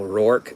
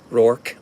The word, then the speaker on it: Roark: I'll answer to Roar Roark r-o-a-r-k Roar I'll answer to that but my family comes from uh Tennessee and so if you talk to them it's Roark that's how they say it it's Roark rowark